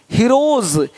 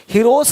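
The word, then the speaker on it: heroes: जैसे कि यहाँ पे रूप्स, यहाँ जा साउंड नहीं आएगा, लेकिन यहाँ पे एक्स नहीं एग्स। हीरोज, हीरोस नहीं, देख रहे हो, रुपीस नहीं रुपीज, ज का साउंड आ रहा है हल्का सा।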